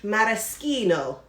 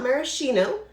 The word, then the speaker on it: maraschino: we are using now people mispronounce this all the time but i have italian roots so i'm going to say it correctly maraschino it's not maraschino because in italian ch is k and c alone followed by a soft